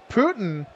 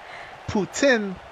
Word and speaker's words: poutine: like what i meant putin from quebec putin or as we say it here poutine but that's not the proper way to say it i'm actually curious